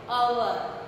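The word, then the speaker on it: hour: हम इसे हवर नहीं बोलते, अवर एंड अवर starting with a, H will be silent, so we will write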